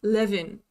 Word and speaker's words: Lewin: is SC is spelled l e w i n and I need to PR I need to remember that it's leevin or something like that instead of Lewin the oh yeah I